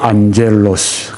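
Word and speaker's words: ἄγγελος: 이 천사는 성경에 보게 되면 헬라어로 안젤로스, 그렇게 발음을 합니다. 안젤로스, 천사는 전령, 메신저, 그런 뜻이 있습니다.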